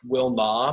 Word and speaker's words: Wilnau: like for my name my name is kind of hard to pronounce it's pronounced Wilma but you know people